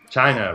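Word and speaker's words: Chyna: in love with China China rhymes with vagina which is ironic had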